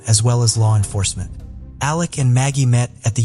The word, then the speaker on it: Alec: covering it appears that he pronounces his name as Alec instead of Alex but I wasn't really